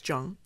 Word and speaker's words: Tjong: Mr. Joey Zhang, that's how you pronounce it? Yes. It's spelled Tjong. Right. It's Zhang.